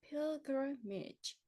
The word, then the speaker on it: pilgrimage: 이거는 pil, F가 아니고요. P 발음이에요. pilgrimage, pilgrimage. 순례하다, 참배하다.